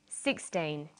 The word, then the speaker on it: sixteen: say 16 or 60 usually the first syllable in a number is stressed sixteen sixty notice that it's the final n in teen that you have to be careful with teen t but of course